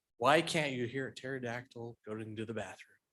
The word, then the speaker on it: pterodactyl: can't you hear a pterodactyl going into the bathroom how come there's no pee he is silent as I say the p is silent yeah that was I